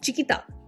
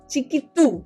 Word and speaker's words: Chikitu: So yeah, that was the reaction to Chiquita. Or Chiquitu. Sorry, not ta.